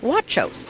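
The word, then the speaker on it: Guachos: Now, this is spelled with a G so that people know, but it's pronounced Huachos. Correct. It is with a G pronounced like a W.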